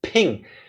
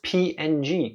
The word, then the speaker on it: PNG: According to Wikipedia, the official pronunciation of creator intended is ping. Yet you still pronounce it as PNG.